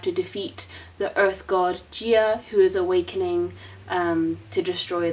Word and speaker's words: Gaia: basically I don't know it's spelt like Gaia but what else into the audio books they said Gaea so I'd already know what the pronunciation is if you have better